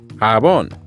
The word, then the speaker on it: jabón: Remember, soap is slippery, so it rhymes with hang on. It's jabón.